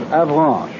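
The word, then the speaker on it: Avranches: M across between K and Avan I'll spell that again for those of you who have taken out your Maps a v r a n c h e s the base of this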